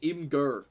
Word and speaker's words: Imgur: what do you mean Imgur that's how it's pronounced you you pronounce it Imager that is disgusting that